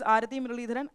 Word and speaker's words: Aarathy Muraleedharan: So, my name is Arati Mirharan. At least some of you might feel a bit difficulty to pronounce my name.